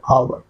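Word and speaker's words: hour: है वोवेल आता है जैसे आवर आवर एच ओ यू आर है बट उसका एच साइलेंट होता है जब हम प्रोनाउंस करते हैं तो ओ का साउंड होता आवर आ का साउंड होता है।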